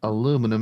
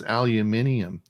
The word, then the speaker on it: aluminium: It's not aluminum, it's aluminium.